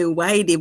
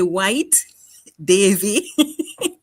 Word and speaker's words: White Davey: You know, I always laugh whenever I hear you call my name because you say Whitey, but it's actually White Davey, but I always get a good laugh.